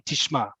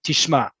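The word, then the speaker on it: תשמע: to me exclusively, Miriam, I would say to a man, tishma. Right? I would make sure it goes down at the end.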